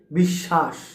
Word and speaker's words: বিশ্বাস: বিশ্বাস বিদ্বাান দাসত্ব। এইযে বিশ্বাস বা বিদ্বাান দাসত্ব একটু খেয়াল করুন। এখানে কিন্তু মাঝে বফলা থাকার কারণে বিশ্বাস এই সটা দুইবার হচ্ছে।